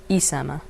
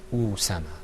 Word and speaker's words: Usama: Because if it wasn't a dhamma and it was a kasra, we'd pronounce it Isama. Okay. All right, how would it sound if it had a fatha on it? Asama. Okay, very good. And it's Usama.